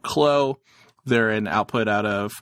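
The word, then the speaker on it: Kllo: uh 15 articles later finally figured out how to correctly pronounce k-l-l-o it's as simple as it would seem uh they're called clo they're an output out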